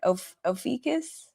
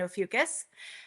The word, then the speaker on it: Ophiuchus: who have I'm going to say it wrong, Ophiuchus? Is that how you say Ophiuchus. it? Uh-huh. Yes. Ophiuchus Yes.